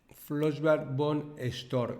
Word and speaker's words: Flossbach von Storch: Mirad, se escribe Flossbach Bond Store y voy a ir deletreando letra a letra porque es impronunciable.